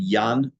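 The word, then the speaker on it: Jan: book called Neighbors written by a man named Yan gross spelled j an Yan gross and I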